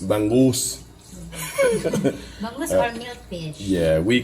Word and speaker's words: bangus: Help me out with the pronunciation. Bangus. Bangus.